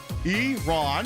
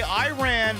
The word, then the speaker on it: Iran: Anyway, uh it is pronounced Iron Eron. I think the letter E and then Ron. If you say Iran, that's a block of seagull song. Please it pronounce it the way it's supposed to be pronounced.